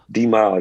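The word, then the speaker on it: D'Mile: Is that how you pronounce it, D-Mal? D-Mal, yeah.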